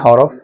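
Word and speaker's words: حاء: হাটা উচ্চারণ করতে হয় গলার মধ্যভাগ থেকে মৃদু চাপ দিয়ে এবং মুখটা একটু ছড়িয়ে হাটা উচ্চারণ করতে হবে।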